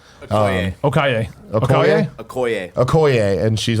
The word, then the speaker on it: Okoye: Okaye? Okoye.